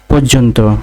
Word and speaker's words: পর্যন্ত: পর্যন্ত, পর্যন্ত এর সঠিক উচ্চারণের বানান হবে পৌকার রয় হসন্ত বর্গীয় জওকার দন্ত নয় হসন্ত তওকার, পর্যন্ত।